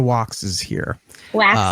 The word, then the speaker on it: Waks: Wax, like candle wax.